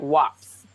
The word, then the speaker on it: wasp: But the word wasp, for example, was originally pronounced with the P sound before the S sound. So this like wops.